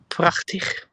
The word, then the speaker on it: prachtig: We and you almost typed it correctly as well, but we don't use the g, but the ch in prachtig. And the last G is the right G we just did.